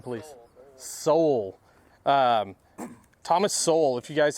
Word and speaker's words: Sowell: Thomas, Justin, correct pronunciation of the last name, please. Sowell.